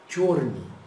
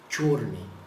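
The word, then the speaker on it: чёрный: cor preta em russo a gente pronuncia tne torne vejam bem tô colocando aqui para facilitar para você né torne quando tem esse acento aqui no e esse tipo de trema então nós temos um som muito próximo do nosso o né no português né E esse som aqui parecido com o y a gente pronunci como se fosse o nosso e tch torne torne então Vamos responder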